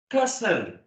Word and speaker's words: castle: Castle. We don't pronounce the T.